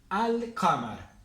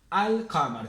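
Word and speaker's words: القمر: con artículo presten atención se lee al amar al amar tenemos una y una l al amar y acá también tenemos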